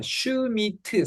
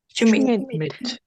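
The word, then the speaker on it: Schmidt: 그 다음 얘는 한음절로 발음해야 됩니다. 슈미트 삼음절이 아니고 한음절로 항상 음절 단위로 소리를 끊는 연습을 하는 게 좋습니다. 읽어볼까요? 슈미트. 슈밋. 그렇죠.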